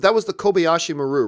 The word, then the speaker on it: Kobayashi Maru: it what was always mispronounced that was the Kobayashi Maru right yeah that's right that was the exercise yeah did I say it right yeah yes Kobayashi Maru actually as somebody who's not like the hardcore